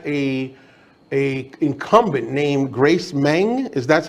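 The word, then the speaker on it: Meng: uh you've had a a incumbent named Grace mang is that's how we say her name Tom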